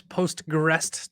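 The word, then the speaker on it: PostgREST: I can never pronounce postrest 12 what is that providing for you guys yeah so postgress uh so this is like postgress but with a tea on the end uh and so uh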